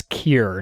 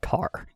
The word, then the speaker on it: Kier: And you're pronouncing it wrong, Marcus. It's Kier, not car.